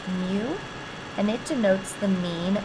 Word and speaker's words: mu: looks like this and the last one is pronounced mu and it denotes the mean of all values